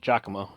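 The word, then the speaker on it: Giacomo: right actually is like yeah that's that's it jockamo it's I have been it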